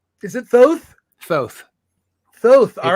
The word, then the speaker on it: Thoth: It's actually pronounced Lord Thoth. Is it Thoth? Thoth.